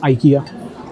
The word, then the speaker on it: IKEA: and turned it into this IKEA, or IKEA as it is pronounced in Sweden.